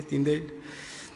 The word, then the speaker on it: Tyndale: William Tyndale, como se pronuncia, Tyndale, que tradujo la Biblia al inglés, dijo: ningún hombre puede leer esta carta demasiado a menudo o estudiarla demasiado bien.